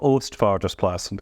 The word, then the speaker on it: Oostvaardersplassen: Well, before I reply to that, Katie sitting over there, do you want to just pronounce Oostvaardersplassen? Because you weren't very good at either, either. Right, it's called Oostvaardersplassen.